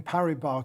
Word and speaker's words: Paribas: First of all, thank you for pronouncing Paribas, because I would have put the S on the end.